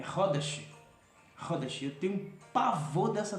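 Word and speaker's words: Khodesh: E a pessoa é levada a pronunciar Hodes. Não é Hodes, é Hodesh.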